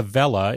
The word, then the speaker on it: Welle: It's called the Vella is how it's pronounced. It's spelled Welle, and we'll include a